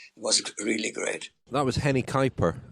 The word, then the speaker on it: Henny Kuiper: really great that was henny kuiper henny kuiper is seems to be the correct pronunciation which i think you're nailing there francois it was nice to